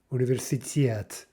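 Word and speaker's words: университет: The correct version is universitet, universitet, with the stress on the final syllable.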